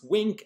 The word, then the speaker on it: WNK: variety of wink proteins wnk is pronounced wink and it's with no